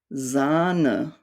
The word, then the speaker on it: Sahne: The H normally prolongs the vowel. So we have words like Bohne, Sahne, Ehren.